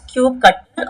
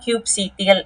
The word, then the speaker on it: kubectl: கட்டில் அது எப்படின்னு சொல்லுவோம்னா ஸோ வி can pronounce it அஸ் கியூப் கட்டில் ஆர் கியூப் சிடிஎல் அப்படிங்கிற ஒரு கமாண்ட்.